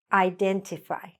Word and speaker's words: identify: So what happens here is that people tend to say E, okay? Especially Spanish speakers, because in Spanish, the I is an E sound. But in this case, it's not in English, okay? Identify. Identify. The stress is on den.